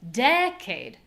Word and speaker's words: decade: And now we're going to make a short unclear low syllable. Cade cade. Cade. Let's put them together. Decade.